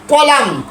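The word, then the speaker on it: column: উঠাম উঠাম সিও জোরে বলেন সিও এল ইউ এম এন কলাম। মূলত কলামন হওয়ার কথা ছিল, কলামন না হয়ে কলাম হয়ে গিয়েছে।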